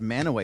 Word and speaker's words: Mantua: Why is it pronounced Manaway if it's Mantua?